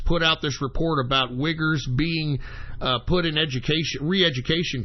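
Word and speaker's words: Uighur: minority in China the wiggers I'm not even kidding it is spelled UI G H you are and believe it or not that's how you pronounce it wiggers but they are putting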